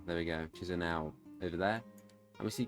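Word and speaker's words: Chișinău: As we see this capital, which I will not try and pronounce. Yeah, well, Chisinau. There we go, Chisinau over there.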